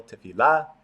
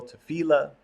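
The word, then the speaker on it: תפילה: Some people pronounce it with the accent on the last syllable, tefillah. Some people pronounce it with the accent on the middle syllable, tefillah.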